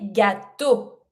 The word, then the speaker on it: gâteaux: Cakes, les gâteaux. Do not pronounce the X. The X is the letter of the plural.